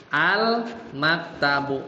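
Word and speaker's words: المكتب: Silam sukunnya itu dibaca jelas.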